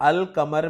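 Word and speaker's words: القمر: लगा हुआ है और अल कमर में मैं अल के लाम को प्रोनाउंस कर रहा हूं, जबकि दूसरा लफ्ज है अशम्स। अब यहां भी आप गौर करें कि इस इस्म के शुरू में अल लगा हुआ है लेकिन अल के लाम को मैं प्रोनाउंस नहीं कर रहा।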